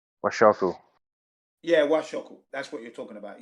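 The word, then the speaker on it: 和食: Did I pronounce it wrong? Is it wasashi or is it wakashi or? It's like the healthy Japanese diet. That's like. Oh yeah. What? How do they say that? Washoku.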